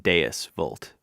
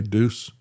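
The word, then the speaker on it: Deus vult: Is actually pronounced deis vault. Oh, okay. Yeah. Did I say deuce? I'm not having a good day today either. Um, yeah, Deos, not Zeus.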